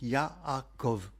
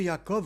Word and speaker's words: יעקב: Et c'est pour ça qu'il s'appelle donc Yaakob, Jacob. Le nom de Yakob en hébreu s'écrit le yode pour ceux qui font de